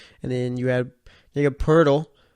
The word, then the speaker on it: Poeltl: And then you had Jakob Poeltl. There's no R in his name either, but for some reason that's how the announcer's pronounced. So I guess that's how it's pronounced.